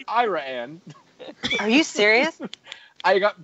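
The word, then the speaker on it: Iraan: How would you pronounce that word? Iran? No, that's Ira Ann, Texas. Oh. It's Ira Ann.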